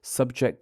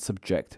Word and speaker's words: subject: stressed as a verb take contest the noun and contest the verb or object the noun and object the verb subject the noun and subject the verb convict the noun and